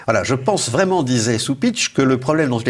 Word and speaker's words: Cupich: de Chicago, le cardinal Blaise Cupich, alors ça s'écrit C-U-P-I-C-H, mais ça se prononce Cupich, parce qu'il est d'origine...